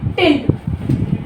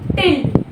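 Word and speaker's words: tilde: ठीक है उसके बाद नेक्स्ट की है टिल इसको बोला जाता है टिल ठीक है स्पेलिंग क्या है टी आई एल डी ई इसका सिंबल इस तरह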